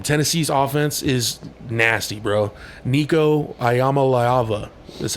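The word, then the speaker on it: Iamaleava: a big game Tennessee's offense is nasty bro Nico ayama laava that's how you pronounce that guy's name we'll watch some of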